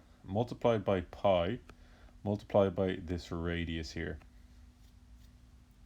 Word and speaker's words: pi: It's pronounced pi, and if we wanted to spell it in the English alphabet, we spell it P-I.